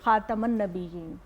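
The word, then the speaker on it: خاتَم: ان کو ہوا ملتی، جب ہم خاتم بولتے ہیں نا وہ یہ غلط تلفظ ہے، خاتم بولنا چاہیے، خاتم النبیین، تے پہ زبر، خاتم النبیین، خاتم النبیین،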